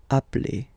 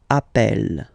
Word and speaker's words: appelle: So when you get this a vowel and then you get a double consonant, and well, they are the same, then it does change the pronunciation of a. You tend to pronounce it like really open. That's the reason why you pronounce it appel.